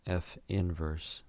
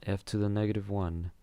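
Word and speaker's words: f⁻¹: So again, the way you pronounce this is f inverse, not f to the -1.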